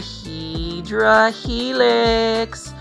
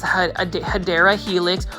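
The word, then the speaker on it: Hedera helix: we have everybody's favorite this is a HRA helix or the correct way to say is hadera helix or English ivy now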